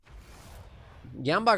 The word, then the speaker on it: Gamba: Gamba rhymes with panda.